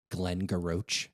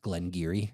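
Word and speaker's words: Glen Garioch: like phonetically you would read it is like Glenn Garo. Yep. And it's pronounced Glenge Giri.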